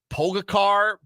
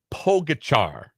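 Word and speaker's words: Pogačar: It is Tadej Pogacar, I believe. I think that's how you pronounce the C with a little caret on the top of it. You give it a CH sound.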